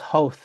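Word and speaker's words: Howth: She's like, "No, yeah, but it's pronounced ho."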